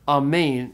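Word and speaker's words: ἀμήν: languages pretty directly so amain is how you say Amen in Greek okay very good that's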